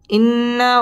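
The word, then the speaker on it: إنّ: إن الإنسان لفي خسر ইন্না ওয়াজিব গুন্নাহ করে পড়তে হবে ইন্নাল ইং ইকফা গুন্নাহ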